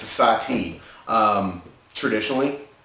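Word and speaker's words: Sahti: the style which is Sati the style is spelled s a TI and this is spelled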